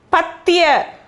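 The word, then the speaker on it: पद्य: Patya. Okay, pat. Patya. Patya, poetry.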